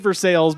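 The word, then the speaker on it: Versailles: so I'm I said versales because I'm assuming this reference to verses Kentucky which is very much spelled Versa but very much pronounced versales uh so again shout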